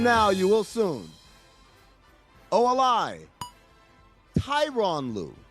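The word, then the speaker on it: Tyronn Lue: Tyron Lou. People keep saying Terron Lou. No, it's a reason his name is Tyoo. It's Tyron Lou.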